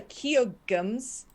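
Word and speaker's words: Keoghtom's: uh to heal yourself this is a keo gums that's how we've decided to pronounce it ointment that graja received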